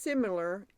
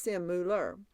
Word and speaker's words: similar: So it's pronounced similar, even when it's simular.